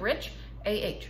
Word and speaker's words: Richa: looked on anything and she said it sounds like rich aah Richa so there we go